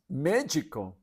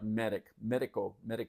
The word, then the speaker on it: médico: I'm saying magic, but they kind of pronounce the D a little funny in Portuguese, and that is actually doctor. And if you look at it, it looks like medico, but it's médico.